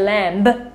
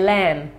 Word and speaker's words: lamb: a baby sheep well it's a lamb and it's a silent be we don't say lamb do we we say lamb I am not a